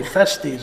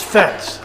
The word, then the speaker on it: Fets: I want to say festies all the time, but it's Fets.